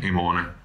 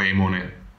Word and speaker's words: Emone: al figlio di creonte emone emone o emone secondo la pronuncia Latina o greca e così dice a